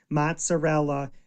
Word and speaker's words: mozzarella: Mozzarella is mozzarell.